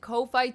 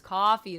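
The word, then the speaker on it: Ko-fi: But yeah, I always pronounce it Kofi, too. But then everyone's like, it's coffee. It's coffee. It's fine if you want to pronounce it Kof Kofi or Kofi. I'm down with that. Kumatronicus, you're welcome here. We can say it anyway we want, but it is supposed to be coffee.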